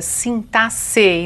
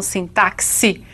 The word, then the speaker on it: sintaxe: parte da sintaxe e é assim mesmo que se pronuncia sintasse e não sintaxe como alguns querem não é então a